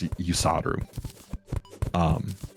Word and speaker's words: Yusaru: What that is that's like the Eastern pronunciation of the word Hussar. Oh. So like that's how you say Hussar in Arabic or in Japanese as well. Like for some reason it's the Eastern kind of translation of Hussar. In the West, in Western languages, it's Hussar. In Eastern languages, it's Yusaru.